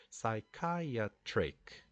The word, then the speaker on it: psychiatric: And I said, no, it's 4 syllables, psychiatric.